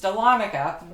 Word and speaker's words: Dahlonega: a town that I wasn't sure how to pronounce upon coming here I quickly learned that it was Dahlonega but I I didn't know that then so